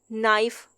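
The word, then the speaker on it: knife: अब यहाँ पे भी के साइलेंट है। नाइफ।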